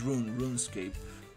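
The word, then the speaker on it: RuneScape: That's uh I think it's rune run escape. That's how you pronounce it. Not run from running but from rune.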